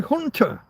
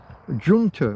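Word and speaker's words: junta: It's a military hunter." Yeah, but junter. We'd even just mispronounce it and pronounce the J as a J.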